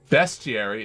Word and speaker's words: bestiary: Bestiary is pronounced like best, not beast.